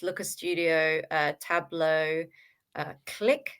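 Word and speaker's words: Qlik: It's like dashboards, Looker Studio, uh Tableau, uh Click spelled with a Q, Q L I K.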